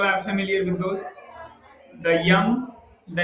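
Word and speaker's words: यम: So you call them Yama, Niyama. The correct pronunciation is Yam, Niyam.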